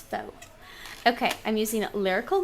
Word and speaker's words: faux: something called faux chipboard f a uux pronounce Fox okay I'm using it